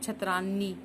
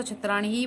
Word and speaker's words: छत्राणी: टिप्पणी नहीं बोलोगे और ना ही आप छत रानी यहां पर तो छत्राणी बोला जाएगा और यहां पर प्राण